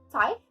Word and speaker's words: Tithe: Só hoje que eu fui realmente procurar como se falava e eu achei essas duas formas de falar, tanto Type como Tight. Então, fica a seu critério.